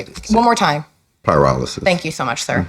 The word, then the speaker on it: pyrolysis: It sounds like paralysis. but it's not. Pyrolysis is Thank what you. it is. One more time. Pyrolysis.